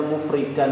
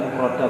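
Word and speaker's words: مفردا: Jadi yang atas tadi bacanya mufridan ya, bukan mufrodan tapi mufridan. Wal mufridu karena isim fa'il tadi.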